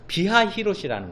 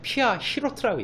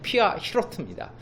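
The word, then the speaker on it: פִּי הַחִירֹת: 비하 히롯이라는 것은 정확하게는 피하 히로트라고 얘기합니다. 우리 한국어 성경의 발음이 이제 한국어로 바꾸면서 이것이 비하 히롯이 됐는데요. 정확하게는 피하 히로트입니다.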